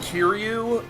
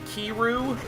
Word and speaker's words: Kiryu: guy it's I I would say either pronounce it Kiryu like he kept saying keep kiru and it's it's like Ryu from Street Fighter timbres a key in front of it such as Kurian okay